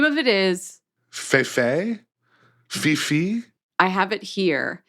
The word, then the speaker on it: Fifi: name of it is Fe Fifi I have it here there's an accent on the second e so F fi but they're Italian it doesn't sound very Italian I would say it's